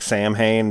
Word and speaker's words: Samhain: Oh, Samhain. Yeah, it looks like Samhain, but it's pronounced Samhain. Yeah, as Donald Pleasance says, right, Samhain.